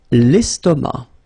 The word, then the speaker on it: estomac: L'estomac. L'estomac, okay, same thing here, final C not pronounced, and then M means that this word, estomac, is masculine, okay?